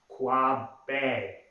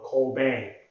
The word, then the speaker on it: Kwabena: The African name pronounced Kwabena, or Kobang, Kwabena.